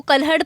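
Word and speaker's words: कल्हण: Next question है, कल्हड़ की जो राजतरंगिणी है, इसको कल्हड़ प्रोनाउंस करते हैं।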